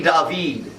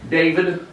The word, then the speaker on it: David: This kind of encapsulates this painting by Jacques-Louis David. Last name, all you need to know is the name's spelled like David in America. Triggered. David, but it's David.